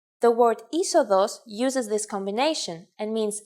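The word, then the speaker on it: είσοδος: If you sound out the first two letters, you get E, but actually you would pronounce the whole combination simply as E. The word isodos uses this combination and means entrance.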